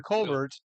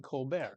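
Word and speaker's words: Colbert: Yes, he was Steven Colulbert and now he's Steven Colbear. Yes, he he these people changed the pronunciation of his last name to make it sound French or I don't know why.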